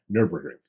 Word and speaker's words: Nürburgring: A camouflaged Tesla Model S spotted tearing up Nürburgring.